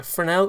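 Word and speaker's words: Fresnel: a foreign al effect a fernell effect I although it spelled like Fresno so if I just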